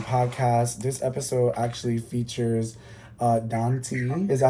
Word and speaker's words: Dantee: This episode actually features Dantee. Is that how I pronounce it? Dantee? Dantee.